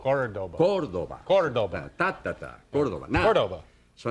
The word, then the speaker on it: Córdoba: Córdoba. The accent's on the first syllable. Córdoba.